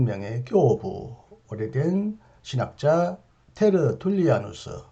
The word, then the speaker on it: 테르툴리아누스: 이 영혼에 관하여 매우 독특한 이론을 주장한 한 명의 교부, 오래된 신학자 테르툴리아누스, 흔히 미국식으로 터툴리안이라고도 발음하는 이분의 책 한 권을 오늘 여러분에게 소개하겠습니다.